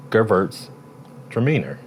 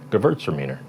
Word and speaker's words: Gewürztraminer: But what I heard recently, even though I've already learned to pronounce that correctly, was to break it into two words. Gewürztraminer. Gewürztraminer.